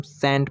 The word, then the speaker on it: scent: Sand ले लीजिए, SCENT, तो एस के बाद यहाँ पर भी सी है तो यहाँ पर सी साइलेंट रहेगा तो इसको हम सेंट पढ़ते हैं। SCENT होता है लेकिन पढ़ते हैं इसको सेंट, यहाँ पर सी साइलेंट रहता है।